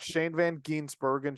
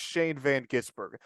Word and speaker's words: Shane van Gisbergen: Let's move on to the winner of the Cup Series race, and that's Shane Van Gisbergen. And it's Shane Van Gisbergen, not Shane Van Ginsbergen, Shane Van Gisberger, or it's Shane Van Gisbergen.